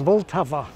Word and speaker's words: Vltava: But in fact, this word has three syllables, Vltava. And like practically every word in Czech, this name has stress on the first syllable. And the heart of that syllable is the letter L.